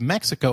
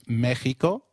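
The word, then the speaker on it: México: While X is usually pronounced as X inflexible, it is pronounced as a throaty H in the words Mexico, Mexicano, and Oaxaca, which is a state in Mexico.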